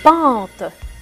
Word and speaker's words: pente: J'entends pas à la fin, je n'entends pas le E. Je ne le prononce pas trop.